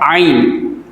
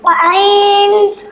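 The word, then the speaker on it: ع: तो आइन का मखरज भी हा वाला है, यानी इसको हल्क के दरमियान वाले हिस्से से अदा किया जाता है। इसकी मशक कर लेते हैं। आइन, आइन, आइन।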